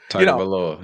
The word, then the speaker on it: Tagovailoa: Has to be Tua Tagovailoa. Yes. I said that last name correct, right? I got Tagovailoa. Yeah. So Tagovailoa.